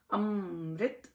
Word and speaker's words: अमृत: इसमें यही आता है अमृत अमृत अम म पूरा नहीं है अम म म में बंद होगा अमृत अमृत ये नहीं है अम म मतलब पूरा नहीं अमृत इस तरह सो